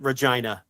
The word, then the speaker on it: Regina: Because it's in Regina. Regina. Is it Regina? Manitoba. Regina? Is it Regina? Do you know that for a fact? I don't want you to. It's 1,000% Regina, because I obviously remember that for obvious reasons.